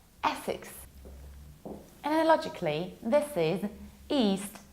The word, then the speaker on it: Essex: It's not Essex. It's not pronounced like most probably the most popular S word. It's not sex, it's six. Like not 5, not 7, but 6. Essex.